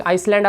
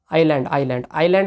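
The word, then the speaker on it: island: और डिस्प्ले के एक स्पेशल फीचर की अगर बात करें तो डायनेमिक आइसलैंड आपको दिखाई देगा। आइलैंड आपको दिखाई देगा। एस साइलेंट है, सॉरी।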